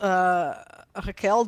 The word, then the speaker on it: Raquel: So I'm not a native French speaker, so So how, so also Raquel, it's pronounced differently because it's Portuguese, so it's kind of Right.